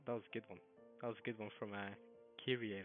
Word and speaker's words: Kyrie: So by the way, Rose also pronounced her name as Kyrie, not Kyrie. So I keep saying it wrong. It's Kyrie.